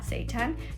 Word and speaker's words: seitan: It says, it's pronounced like that, seitan.